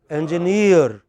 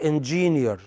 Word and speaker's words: engineer: The correct pronunciation is engineer, not engineer.